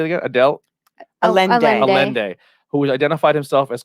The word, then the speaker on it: Allende: Allende.